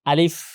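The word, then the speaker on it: ا: উচ্চারণ করতে ভালো করে আলিফ আলিফ আলিফ তাড়াতাড়ি এবং হচ্ছে দাঁতগুলো নিচে যে ছোড়া আছে সেখানে লাগবে শেষের দিকে আলিফ আশা করি সবাই বুঝতে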